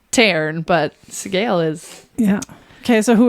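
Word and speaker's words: Sgaeyl: Scale.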